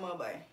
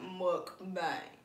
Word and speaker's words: mukbang: Hot pot mug bang. You still sound like you said it wrong. Hot pot mukbang.